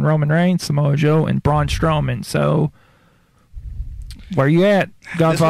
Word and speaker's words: Braun Strowman: who'd you say again braun strowman you gotta say it right that's why i've had you repeat it's broad straw man okay i've got a